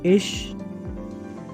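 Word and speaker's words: ich: Next है, अगर after ये लगा हो तो आपने इसको श पढ़ना है। फॉर एग्जाम्पल इश निश, ये एग्जाम्पल होगी आपकी।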